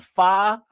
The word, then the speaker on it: pho: A pho, a pho, however you pronounce that, a ramen.